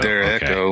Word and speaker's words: derecho: I think it's a Derecho. Derecho. Okay. I was like, pronounce it like Hispanic.